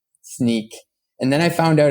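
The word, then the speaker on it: Snyk: and everyone uh no one knew how to pronounce it uh they call it snike snook sneak and then I found out after working there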